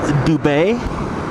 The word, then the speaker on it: Dubé: His name is Philip Dubé. Last name is spelled D-U-B-E and has an accent from the bottom left to the upper right hand side, or if you're French, it's called an accent aigu, so it'd be an